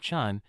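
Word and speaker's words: ฉัน: For women, you'll want to use, which sounds like chun, think chunk without the K.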